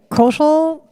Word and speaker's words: Kaushal: By the way, Kaushal rhymes with social, and he's in charge of a social media marketing firm.